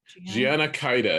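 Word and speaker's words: Jeaine Caide: She's leaving and Jean, I think it's Jean Cade. Gianna Kaida is how they pronounce it from Ugh.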